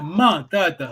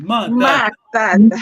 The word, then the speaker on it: ma tata: Ça se prononce bien, ma tata. Accent aigu, ma tata.